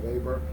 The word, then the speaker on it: Weber: I'll just tell you, the writer was Max Weber. It's spelled like Weber, Weber, but it's pronounced Weber.